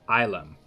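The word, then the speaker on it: ylem: of the day is ilum pronounced islam okay i tried islam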